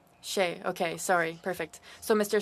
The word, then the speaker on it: Shea: we'll begin with you am I pronouncing your name okay how should I pronounce it Shay okay sorry perfect so